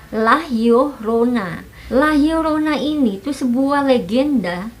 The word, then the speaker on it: La Llorona: hantu lah youna Nah sebenarnya kalau tulisannya sendiri itu lalu Rona tapi ternyata cara membacanya itu lelah Yuh Rona lahir oronine itu sebuah